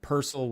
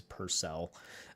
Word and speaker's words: Purcell: PCEL would be the the typical Irish way of pronouncing my last name. And then the American Americanized way is PCEL. Uh, but yeah, uh, when you say it the Irish way, it kind of rolls together a little bit better.